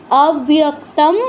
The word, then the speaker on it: অব্যক্তং: বীজানি স্বরাস, দন্তস্বর নিচে ও আছে, খেয়াল রাখবেন, স্ব হবে উচ্চারণটা, স্ব, স্বরাস শক্তয়, শক্তয় অব্যক্তং, অব্যক্তম অনুসারের জায়গায় ময় হসন্ত আর ও এর সাথে ইয় যুক্ত হয়েছে, অব্যক্তম।